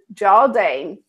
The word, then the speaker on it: Jarldane: So, without further ado, I'd like to welcome our very special KAREN Jardane.